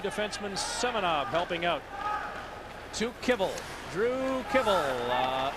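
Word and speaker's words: Kivell: Uh, it's K I V E L L. But we asked him and he said, "No, you pronounce it kibble." And Nick and I both turned to each other and said, "Like kibbles and bits."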